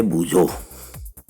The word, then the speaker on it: बूझो: एक है बूझो और दूसरी है पहेली. Now I know that part कि कोई उसको भोजो भोजो भी बोलता रहता है, बट इट इज नॉट भोजो. सी the pronunciation correct.